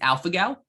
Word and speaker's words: alpha-gal: How do you pronounce that again? It's alpha-gal, ALPHA-GAL syndrome, alpha-gal syndrome.